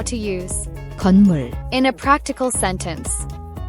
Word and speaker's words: 건물: Here's how to pronounce it. 건물, 건, 물, 건물, 건물, Means building, a structure with walls and a roof where people live, work, or store things.